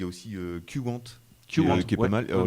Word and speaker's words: Qwant: En termes de personnalisation, il y a aussi Qwant qui est pas mal. Alors, lui, on prononce Qwant.